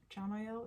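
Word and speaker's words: Chamuel: AR Archangel Archangel uh Shamel chamel is is how you pronounce it c h a m u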